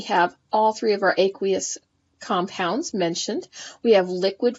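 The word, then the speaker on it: aqueous: matter it's not liquid it's called aquous or sometimes pronounced aquous then it mentions that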